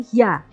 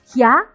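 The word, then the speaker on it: ひゃ: Kemudian kalau hi dengan ya kecil, hi, yu kecil, hi, yo kecil, bukan hia tapi hia, hyu, hyo. Hya, hyu, hyo.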